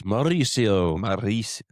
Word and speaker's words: Mauricio: You got to roll your Rs. Mauricio.